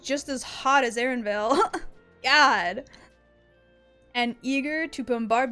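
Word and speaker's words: Erenville: on screen right now aaronville or Aaron Vale they pronounce it Aaron Vil okay what's going on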